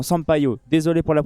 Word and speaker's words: Sampaio: L'arbitre de la rencontre sera Wilton Pereira Sampaio Sampiou plutôt. Sampaio. Non non non, Sampaio.